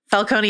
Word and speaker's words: Falcone: The differentiations of Falcone and Falconee across the various films and shows is really hard for me. By the way, it's I'm I'm going to go with the Jonathan Crane pronunciation, which is Falcone. That's what I'm going to stick with. That's I think that's the appropriate thing here for this discussion. But you know, we've been in Falconee land much more recently and